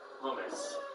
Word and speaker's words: hummus: like coconuts and carrots i've got the correct pronunciation there hummus what what do people think hummus and it's not hamas no pretty clearly so